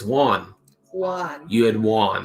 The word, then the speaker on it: Juan: It's Juan. Juan. You had Juan. He says it like if you were saying on, and then he puts a W in front of it.